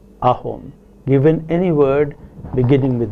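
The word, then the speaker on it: অসম: a word such as assam which is ahom pronounces ahom given any word beginning with the vowel it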